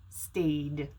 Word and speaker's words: stayed: sound with a vowel sound you need to pronounce it with a d sound staid and lastly this one how do we say